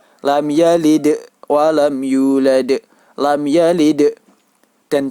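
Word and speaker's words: لَمْ يَلِدْ: Lam yalid. Dan cara membacanya yaitu wajib dipantulkan.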